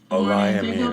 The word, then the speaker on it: Olayemi: Olayemi, that's how you say her name.